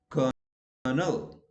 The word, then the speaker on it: colonel: is that in India we change L into R, so we say Colonel Chopra, but no, there is no R, okay, because the spelling is Colonel, so L is silent, so it becomes Colonel.